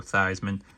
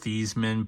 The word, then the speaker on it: Theismann: But I got a Joe Theismann. It's actually pronounced Theismann, but Theismann because it rhymed with Heisman.